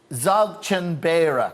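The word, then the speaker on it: Dzogchen Beara: Because Zogchenbera, right? Yeah. This is how you pronounce this.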